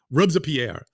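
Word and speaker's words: Robespierre: they say it with when they say rer in French they say it in three syllables always rubs a Pierre rub I almost can't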